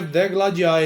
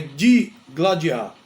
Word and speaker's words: digladiar: forma errônea de gladiar o verbo não é degladiar é degladiar e deve ser escrito com i de i g l a d i a r de gladiar Esse é